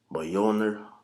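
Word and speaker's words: Mjölnir: I believe it's pronounced Mjolnir, if I'm saying it right, and pretty much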